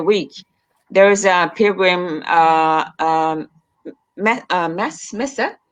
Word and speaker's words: messe: there is a pilgrim messe. How do you say that? Yeah, mess.